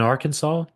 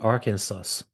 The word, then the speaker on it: Arkansas: so pronounce it carefully so when you're in Arkansas don't say Aransas right all right so